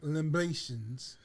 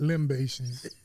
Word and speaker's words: libations: We get all the black libations. Put them all together. Libations, not limbations.